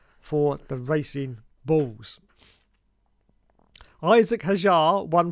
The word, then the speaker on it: Hadjar: Hadjar. Isaac Hadjar. But I suspect the D is silent, so I'm going to say Isaac Hadjar.